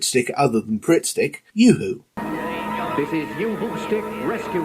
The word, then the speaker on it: UHU: Yoo-Hoo Stick. Fast, clean, effective. Technically, they should be pronouncing it Uhu, because that's how its German inventor said it.